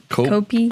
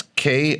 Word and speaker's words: Koepke: Copey. Copey. What do you think? Copey K. Kopek? You want to try to spell it? Say it. It's Koepke. We're big into the pronunciations here on this show.